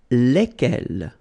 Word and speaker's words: lesquels: Then for the plural form, you will add this S here and then S at the end, okay? And it will give you the pronunciation lesquels, all right? So final S is not pronounced. So here, when you get this L-E-S, okay, it's just like the article, if you remember, les, okay? So it goes like lesquels, all right?